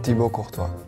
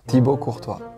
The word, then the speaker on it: Thibaut Courtois: Pero la pronunciación tiene que ver, ¿no? Es de Bélgica, ¿cómo se dice? Thibaut Courtois. ¿Cómo? Thibaut Courtois.